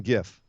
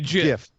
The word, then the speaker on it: GIF: Reaction GIF. You mean a GIF? No, I mean a GIF, like graphics interface format. Graphics, hard G.